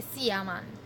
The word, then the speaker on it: seer man: They spell it SEE-ER man. Seer man. But we just say Seaman.